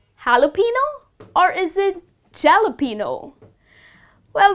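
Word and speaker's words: jalapeño: spicy chili green pepper it is called jalapeno that's the correct way to pronounce this word all right so next time you're ordering your sandwich do not end up saying jalapenos okay moving on to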